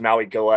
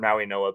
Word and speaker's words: Mauigoa: I've always thought it was Mauigoa. I've heard Maui Noah, but thanks for the clarification on that.